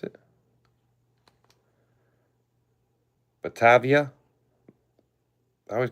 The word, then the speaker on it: Batavia: This is the Bativa. Bativa, I think is how you pronounce it. Batavia.